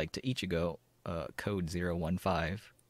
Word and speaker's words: ichi: out nicknames like - Ichigo code zero one five with one being pronounced Ichi and five being pronounced and go in Japanese and that also forms